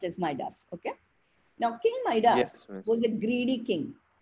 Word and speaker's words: Midas: Most people say Midas. It is pronounced as Midas.